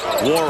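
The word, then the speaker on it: Nwora: Jordan Wara, the end is silent as you see with the spelling.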